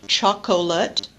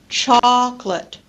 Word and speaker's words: chocolate: delete vowels so in a process called Syncopy which is a medial vowel disappearing we typically instead of the word chocolate pronounce it chocolate chocolate instead of saying different